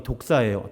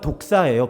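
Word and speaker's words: δόξα: 그리스어로 영광이 독사예요. 뱀 아니에요. 그냥 헬라어가 독사예요. 발음이.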